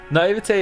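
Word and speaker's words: naïveté: Naivete is such a strange spelling. The sound at the end is an A.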